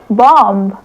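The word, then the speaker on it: bomb: हैं टॉम बोलते हैं बी ओ एम बी क्या होगा बॉम्ब वेरी गुड यहां पे जो बी है वो एकदम धमाकेदार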